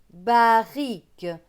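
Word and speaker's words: barrique: suivant bas riz que barrick parce que là le r se prononce comme s'il n'y avait qu'un seul r donc c'est bas riz que barrick la ligne suivante 4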